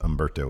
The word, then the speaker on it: Humberto: offense in yeah sure cuz he works fast Umberto Carrillo versus Andrade somebody in comments at some point said that I'm pronouncing with an H I've never pronounced Umberto with an H yes it's I mean I